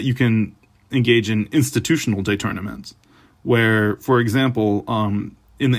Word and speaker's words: détournement: And you notice this is a funny pronunciation I'm making. I could just say détournement. That would be the English way, but this is French terminology, so I'm saying détournement. I'm probably not even pronouncing it correctly.